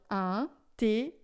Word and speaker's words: intérêt: A pronúncia vai ficar an, porque é IN, esse T é sempre fechado, porque tem o acento agudo, e é com o E aberto, porque tem o circunflexo. Só indica que tinha o S, mas a pronúncia é aberta.